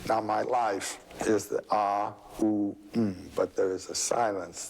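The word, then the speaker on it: AUM: that and this is called The Four Element syllable what is the fourth element a u m and the silence out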